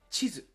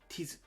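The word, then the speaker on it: ちず: "Chizu" (map). If you pronounced "chi" as just a T, what would happen? "Tizu." To a native Japanese speaker, it sounds like "tizu." That's completely different.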